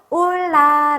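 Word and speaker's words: hola: 읽을 수가 있을까요 4 우리아 체는 묵음 이기 때문에 없다고 생각을 해 주시고 올라 라고 읽어 주면 되겠죠 자 한번 따라 해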